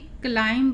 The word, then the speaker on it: CLIMB: और इसको CLIMB क्लाइम पढ़ेंगे, क्लाइम। आई का उच्चारण आई, तो इसलिए यहाँ पे क्लाइम।